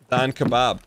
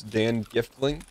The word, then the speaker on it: Dan Giftling: Don Kebab. Excuse me, you seem to have mispronounced our name. It's Dan Giftling.